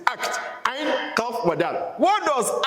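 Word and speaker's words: عقد: It's not akid. It's not akid. All those things that Yorubas pronounce. It is act.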